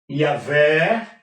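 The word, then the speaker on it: Yahweh: Yavé, a pronúncia é essa, Yahvé, o Jeová.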